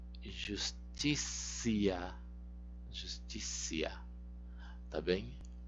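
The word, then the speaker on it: justitia: O T você vai sempre pronunciar como C quando ela for seguida de um I breve. Justicia, justicia, tá bem?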